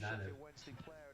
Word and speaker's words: Zanev: Hey, by the way, it's pronounced Zanev.